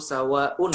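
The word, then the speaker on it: سواء: ini misalnya innalladziina kafaruu sawa'un alaihim sawah UN itu harusnya dibacanya panjang Kwangmin pun alaihim tapi pas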